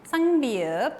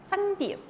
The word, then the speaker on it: 쌍비읍: ¿Y cuál es su sonido? El sonido P. ¿Cómo va a sonar entonces? Va a sonar como pa, pe, pi, po. Ese es su sonido. 쌍비읍.